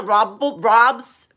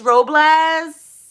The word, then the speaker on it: Robles: They used to be like Robs, because it's like R-O-B, so it's pronounced like that. But they don't, anyways. I used to always have to tell them, I'm like, it's Robles, like the tree, like a tree, because it's a tree.